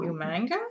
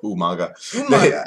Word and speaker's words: Umaga: Or Umanga? Umaga.